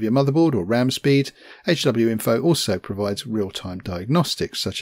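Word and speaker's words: HWiNFO: info hw info and it is pronounced hw info and not hue info as far as i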